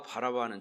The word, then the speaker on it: 바라바: 오늘 말씀의 주제는 예수님과 바라바, 바나바가 아니라 바라바입니다. 발음 잘 하셔야 합니다. 바나바와 바라바는 절대 똑같은 사람이 아닙니다.